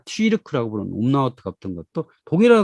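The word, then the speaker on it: Türk: 이것을 튀르키예, 그러니까 투르크가 아니라 튀르크라고 부르는 umlaut가 붙은 것도 독일어 같은 모양 있잖아요.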